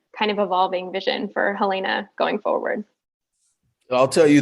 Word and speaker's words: Helena: from helena my apologies if you come to helena and say helena they'll say oh oh there's another down south or east coast or whatever so let's start pronouncing helena i want y'all to